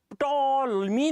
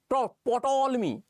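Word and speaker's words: Ptolemy: समझ में आता कि जब ये शब्द पी का कोई प्रोनाउंसिएशन नहीं था, जब ये टॉलमी नहीं है, टॉलमी पोटोलमी मुझसे कहा भी नहीं जा रहा, जब ये पोटोलमी नहीं है तो इसके नाम के आगे पी लगाने की आवश्यकता ही क्या है?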